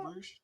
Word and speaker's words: Bruges: I feel Uh, like it's because they're drunk that In Bruges is what their favorite one is. But okay, is that how you pronounce that, Bruges?